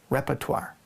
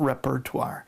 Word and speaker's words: repertoire: useful for your own repertoire. Repertoire. Not repertoire. It's spelled that way, but you actually pronounce it repertoire.